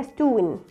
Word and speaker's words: stone: خد بالك عشان في ناس بتقولها ستون رونج، اوكي؟ بيكوز it's a long o makes the sound of o.